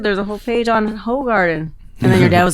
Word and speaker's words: Hoegaarden: And then my favorite beer, the Hoegaarden, is actually pronounced Hoegaarden. Oh, you've been fucking it up this whole time, Hoegaarden.